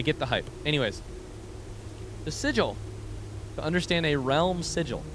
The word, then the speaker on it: sigil: now, I think about how Matt Mercer mispronounced sigle for like 20 episodes. Shout out to Critical Role, though. It's been wildly entertaining. I get the hype. Anyways, the sigil.